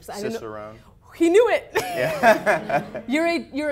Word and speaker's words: Cicerone: Okay, so I also happen to know that you are a, and you have to help me with this pronunciation. Cicerone.